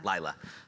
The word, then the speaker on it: Lyla: I want to make sure I pronounce her name right. Lyla.